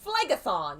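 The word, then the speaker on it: Phlegethon: flame having been flooded by the river flag flagothon that's how you say it superheated contents could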